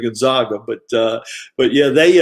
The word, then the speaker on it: Gonzaga: and we gotta we got to say it right gonzaga they uh they they're a little sensitive about gonzaga instead of gonzaga but uh but yeah